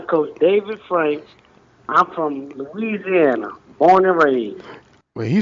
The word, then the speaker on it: Louisiana: I'm from Louisiana, born and raised. Well, he said that loud and proud. You didn't say it right, though. You from Louisiana, not Louisiana. Louisiana.